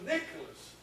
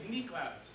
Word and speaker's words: Niklaus: He was wanting to call you Nicholas, and you said... It's Niklaus. That's how it's said and how it's spelled.